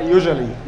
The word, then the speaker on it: usually: لا اسمها usually. usually قلنا ال S U A بتنطق جا.